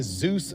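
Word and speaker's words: Dzus: This right here is a Zeus fastener. It is spelled DZ Us.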